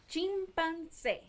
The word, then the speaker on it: chimpancé: Chimpancé.